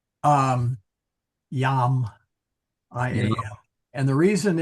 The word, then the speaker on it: iam: It's Yam, I-A-M. Yeah. And the reason is this is the infamous consonantal I. So you will sometimes see it as jam. It's not pronounced jam, but still pronounced yam.